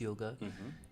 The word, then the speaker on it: yoga: is considered the topmost yoga, is what all these other yogas actually need to be relevant, if you could say. If you look at the word yoga itself, originally pronounced yog, it means to connect,